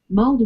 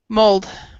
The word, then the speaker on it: mulled: Mulled wine. what's the pronunciation? Mold? Mulled, mulled wine. Mold? Hmm. Mold wine. Yeah, but it's mulled is the spelling.